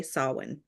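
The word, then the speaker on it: Samhain: his band that and taught us all how to say it sa listeners you want to say sawin I love that the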